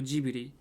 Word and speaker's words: Ghibli: In Japanese it's Stadio Ghibli, and in English it's Studio Ghibli or Ghibli.